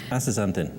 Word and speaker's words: Astaxanthin: I think I pronounced it right, Astaxanthin, yes.